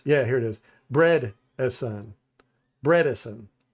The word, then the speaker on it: Bredeson: Bredesen. So it's bread. Bredesen.